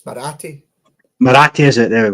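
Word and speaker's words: Marathe: Um Andrew Cavar and Parag Mati I think is how you say it. Um obviously uh they've had their their 10 p worth as well. Um they had it is it's Morati.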